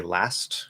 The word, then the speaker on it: last: to after it uh the t will commonly disappear like if i say last i'm going to say